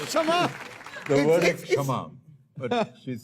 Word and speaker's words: क्षमा: The word is it's- Kshama, but she's saying Kashama. Yeah, something is silent in it.